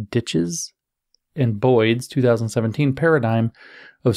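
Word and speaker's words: Dyches: got it right now we have dishes d-y-c-h-e-s ditches and boyd's 2017 paradigm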